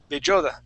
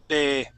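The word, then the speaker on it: Bedoya: Andres Bejoda. No, Bedoja. There we are. Bedoja. You're right. I pronounced it wrong the first time.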